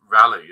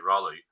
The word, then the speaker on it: Raleigh: I bounced through Seattle down to Rally or I should say Raleigh because I keep kept on getting told I was saying it wrong and spend a bit